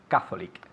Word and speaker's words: Catholic: great okay repeat again catholic okay fantastic catholic catholic okay so the emphasis of accent is on the first syllable catholic catholic okay and